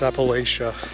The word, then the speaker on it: Appalachia: You know, they say if you're from this area, it's pronounced Appalachia, whereas when I grew up, everyone, you know, school called it the Appalachian Mountains. So I guess it's a quick way to know if you're a local or not.